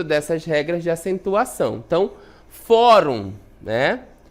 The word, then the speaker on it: fórum: Então, fórum, né? Fórum é uma paroxítona terminada em UM, olha só aqui, ó, terminada em UM, ela vai receber acento.